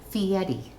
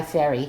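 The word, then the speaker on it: Fieri: Hell's Kitchen and guy I'm going to say his name the way he says it guy fiti although his real name is guy fery and he just changed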